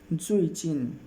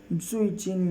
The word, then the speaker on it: 最近: मेरे साथ प्रोनाउंस कीजिएगा। जुइचिन। जुइचिन यानी लेटली, रिसेंटली या हाल ही में।